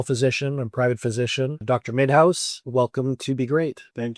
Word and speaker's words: Minhas: Minhas.